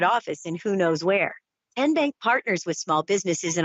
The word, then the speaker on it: TN Bank: How do you say the name? TN Bank? No. Tin Bank? So what is it? 10 Bank. 10, as in Tennessee, right here where all our banking